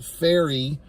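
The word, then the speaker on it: Pharry: uh early on there's a character named Taylor faery that's how it's pronounced p h a r r y so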